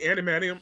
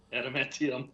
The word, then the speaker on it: Adamantium: so the animanium. I always say it wrong, but the animanium. Yep. Oh, right. That was like a big Adamantium? plot Yeah. point. Yes. Adamantium. Okay, really quick.